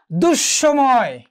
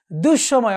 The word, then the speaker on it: দুঃসময়: এই বিসর্গ যদি পদের মাঝখানে থাকে, তাহলে এর পরবর্তী যে ব্যঞ্জনগুলো রয়েছে তার উচ্চারণ কি হবে? দ্বিত্ব হয়ে যাবে। যেমন ধরো দুঃসময়। কি? দুঃসময়।